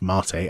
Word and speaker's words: mate: It's Mate, pronounced Mate as in Carmat, the letter A.